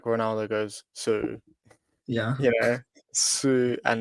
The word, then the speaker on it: Szűcs: entry it's like a it's like a CH sound at the end so you goes Sue like almost like Ronaldo goes Sue yeah you know Sue